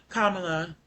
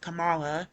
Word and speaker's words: Kamala: And then uh when it comes to the vice president, former vice president um Kamala, even though I've always heard that name pronounced Kamala in the Indian culture and when Indian people